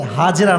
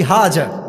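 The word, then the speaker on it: Hajar: একটা ভুল ধরায় দি ভালোবাসার সাথে হাজেরা নাই। নাম হচ্ছে বিবি হাজার। না আমি আপনার ভুল ধরাছি ভালোবাসার সাথে। এটা কোন অপমান নয়। আমরা বলি বিবি হাজ। না উচ্চারণটা হচ্ছে বিবি হাজার।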